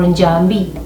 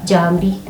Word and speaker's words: Njambi: You may pronounce it as Jabi or Njambi. Jabi, Jabi. And again, we see the MB there because we're making the ba sound. Jambi, Jambi.